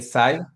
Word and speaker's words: Psi: Fue la elección porque dentro de las letras griegas, el SAI, que básicamente es cómo se pronuncia, se escribe PSI, habla de la psique, del alma y de la esencia interior.